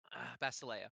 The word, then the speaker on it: Basa: um remind me basil basa basa basa emphasis on the first one deemphasize the last one gotcha basa now that